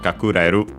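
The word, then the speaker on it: 隠れる: Uh let's check its accent just to be sure. Yeah, it was actually uh it's actually uh accented. So, kakuru and kakus uh respectively uh it's a verb it's verb.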